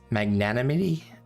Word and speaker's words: magnanimity: Magnanimity? I can never pronounce that.